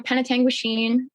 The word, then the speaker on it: Penetanguishene: Well, I'm 24 and I'm calling you from Penetanguishene, Ontario, Canada.